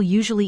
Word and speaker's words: usually: Quick pronunciation nudge for clarity, Not drilling say usually with a soft z sound, 𝗄𝗶𝗶𝗍𝗆, and recommend with a clear stress on mend.